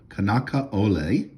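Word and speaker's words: Kanakaʻole: in the album okay I believe her name is pronounced kanaka Ole and she established uh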